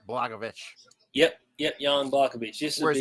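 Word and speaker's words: Błachowicz: Pereira and Jan blagovic I think that's how they pronounce it blagovic yep yet young blackaby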